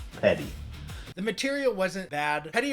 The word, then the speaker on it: Peddi: Why are you being so petty? It's pronounced Petta.